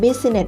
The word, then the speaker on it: Business: Business เนี่ย นะ คะ Business เหมือน จะ เป็น 3 พยางค์ ใช่ ไหม แต่ ความ จริง แล้ว มัน เป็น 2 พยางค์ ค่ะ Best Nature ส เบส